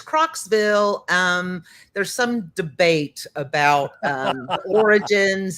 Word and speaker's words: Croxville: Croxville. Croxville. I have always wanted to ask you how to pronounce that, and I promise you I will